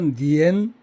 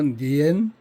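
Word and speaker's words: 粘: 아 여기서는 간체자로서 니엔 이렇게 발음이 되죠. 니엔 이렇게 발음이 되고 삶이 점할 점, 점 차지할 점, 점칠 점 근데 여기서는 그렇게 의미를 부여하지 마시고요.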